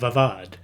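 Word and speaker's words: Oudh: Most of the SEOs in the army of the Bengal presidency came from the northern Indian kingdom of Avad which confusingly for my tongue is spelled O U Dh.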